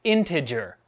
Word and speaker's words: integer: in the description integer it's pronounced like integer hard G integer yes I'm sorry